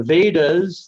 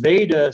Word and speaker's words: Veda: The Vedas, the word Veda simply means knowledge in Sanskrit, and you might notice some connection with the English word wisdom. Wisdom, because the V is often pronounced like a W in Sanskrit.